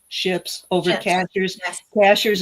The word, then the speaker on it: Cashiers: Cashers is spelled just like a cashier at the grocery store. And I But still say cashiers. I know it's not, and I still Cashers is the way the natives say it, and it's a